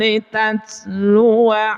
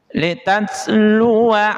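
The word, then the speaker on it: لتتلو: Jadi bacaan wa di sini jangan dibaca panjang tapi dibaca pendek. Litatlua alaihim. Jadi dibacanya tidak litatlua alaihim. Tidak panjang tapi pendek.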